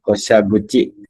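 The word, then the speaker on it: 降車口: Dia dibaca ko di sini ya. Ko. Ah, Berarti, Koshaguchi. hai desu ne, koshaguchi.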